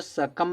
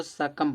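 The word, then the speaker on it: succumb: silent होता है ना लाल ठीक करने वाला इसका मतलब निकलता है इसको देखो सकम नहीं पढ़ते उसको सकम पढ़ते हैं यहां जो बी क्या है साइलेंट सकम सकम माने हार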